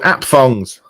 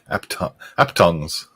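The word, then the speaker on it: aphthongs: They're called apthongs. Apthongs? A-P-H-T-H? Apthongs. How would you pronounce that, Steph? Good question. Oh, Well presented. I would go at ongs because the H and T's are silent. Aptongs.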